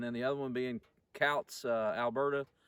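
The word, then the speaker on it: Coutts: the other one being cows alberta i found out that is how you say it it's not coot scouts calls alberta which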